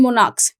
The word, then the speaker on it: monarch: But monarch and monarchs. So monarch, kh and monarchs, k or kh. This sound will not change.